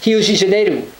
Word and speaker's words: Rio de Janeiro: what it is, but in Portuguese it's actually pronounced Rio de Janeiro, because their first R is pronounced like an H, D can have a J sound, and O's at the end of the word in Portuguese have an U sound, a U sound.